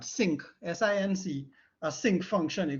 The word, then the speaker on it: sinc: general term for it our sink actually pronounce it like that sync sinc a sync function